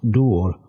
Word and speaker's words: Dŵr: If, then, they can be read Dor Dorum and Helgain Dorum, Dor and Helgain are nearly Dŵr, or as it is pronounced, Dŵr, and Hallan, the Welsh words for water and salt, respectively.